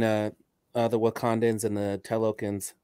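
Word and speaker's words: Talokan: the wakandans and the telokins telokin is how you pronounce it um this is one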